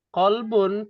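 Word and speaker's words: قلب: Kalbun tulisannya pakai kaf. Hmm. Kolbun pakai kof.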